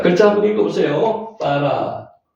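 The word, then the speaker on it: ברא: 빠라. 작지만은 아 발음 나고요. 아 발음 나고 빠라. 빠라의 키즈죠.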